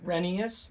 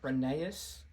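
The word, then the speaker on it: Rheneas: renas you guys decide potato potato it's actually pronounced renas not reneus K kado anyway I don't know Drake anything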